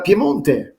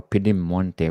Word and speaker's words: Piemonte: Today we're going to talk about Piemonte. Piemonte or Piedemonte. What's the right Piem- pronunciation, Shafi?